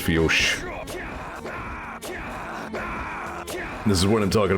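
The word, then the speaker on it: Fiodh: I remember there was, what, the one dungeon in Mabinogi spelled F-I-O-D-H, and apparently it's pronounced Fiosh.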